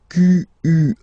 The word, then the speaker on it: quel: Quel, masculine form here, will be pronounced exactly as the feminine form here. Quel. So only one sound, okay?